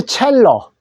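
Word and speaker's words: cello: 자, 그 다음에 첼로. C자가 이탈리아어로 치읓 소리 나더라. 그래서 첼로는 첼로우로 발음해 주시고, 자, 그 다음에 점검한다, 체크한다.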